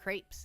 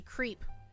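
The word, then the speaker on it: crêpes: Uh, and then if we pronounced it English, we just read that as an English word, that would be creep because the e makes the e say its name.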